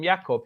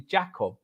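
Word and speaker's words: Jakub: we all call it everyone calls him ycob his name's actually Jacob in Polish jaob J you don't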